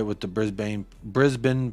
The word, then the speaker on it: Brisbane: totally right with the Brisbane Brisbane pronunciation hey there you go brisban not Brisbane uh honestly I was